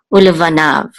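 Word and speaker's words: ולבניו: This yud is silent, or it takes the sound of this kamatz. Okay, ulevanav, and the u part means and.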